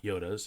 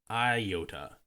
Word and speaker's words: iota: Truth this reference about Yodas has you see a specific historical context side note the reference to the ninth letter of the Greek alphabet is pronounced Yoda not Iota unlike o which receives